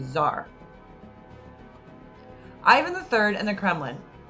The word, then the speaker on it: tsar: latin word caesar and that t-s-a-r is pronounced with a z zar ivan iii and the